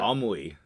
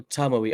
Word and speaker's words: Tomoe: It's like you're pronouncing the Oh. O and the E like an O and an E. That's how you would say it in Japanese. Tomoi. Oh, Tomoe.